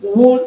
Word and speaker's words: wool: These words are pronounced wool and wood. The OO in them are pronounced U, the short O sound, okay?